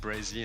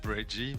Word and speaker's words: Brezzy: Just Brezzy. Like SZ. I know it's hard like to pronounce because like it's half of my name. It's just like say Brezzy and not Breggy, but like I mean you can say whatever.